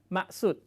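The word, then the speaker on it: maksud: CG นะ ครับ ใน ตัว อักษร เรา จะ เห็น ว่า ตัว k ใช่ มั้ย แต่ ทำไม ออก เสียง เป็น มะ นะ ครับ คือ ใน ภาษา ลายู เนี่ย ตัว ไม่ ออก เสียง นะ ครับ ม สุด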